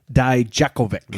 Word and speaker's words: Dijakovic: You're going to have to help me with this pronunciation. I know him as Donovan Dijak, but what do they call him now? Dominic Dijakovic.